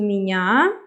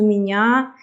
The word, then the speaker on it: меня: Like я goes to меня, я goes to меня, ты goes to тебя, and then we can make them as a couple. Меня rhymes with тебя.